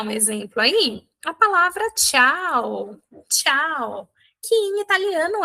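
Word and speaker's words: ciao: A palavra tchau. Tchau, que em italiano é oi. Tá? Palavra tchau também pode ser tchau. Pode ser tchau, tá? Oi e tchau. Em italiano é só tchau.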